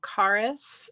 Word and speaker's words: Charis: it'd be cool okay so carus is spelled c h a r i s and if you um remember it is the root word of Carisma so it's Charisma without the ma um and then and